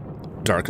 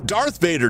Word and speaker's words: Darth Vader: Dark it's Darth Vader. Tam you you're getting his name wrong.